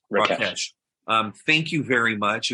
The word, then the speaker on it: Rakesh: Rakesh? Rakesh.